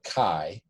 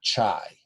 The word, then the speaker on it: chi: statistic and by the way this is called chi uh k k-a-i like cobra chi uh not chai so sometimes students pronounce this as chi squared and it's actually